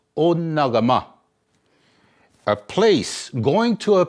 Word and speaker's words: Onekama: Okay, they call it Onekama. Okay, and it's supposed to be pronounced Onagama.